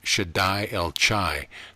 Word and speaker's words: Shaddai El Chai: should die el chai pronounced shaddai el chai the ch's guttural as in loch mercury business matters writing